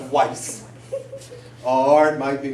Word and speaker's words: Weiss: Or it might be pronounced Weiss. Or it might be pronounced Weiss. Sometimes they would pronounce the W like it's a V.